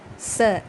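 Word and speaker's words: ce: இதை நம்ம ஃப்ரெஞ்சில் ச அப்படின்னு தான் ப்ரொனவுன்ஸ் பண்ணணும்.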